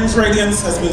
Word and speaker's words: Raydeeance: My name is Radiance, as been said, it's spelled R-A-Y-D-E-E-A-N-C-E.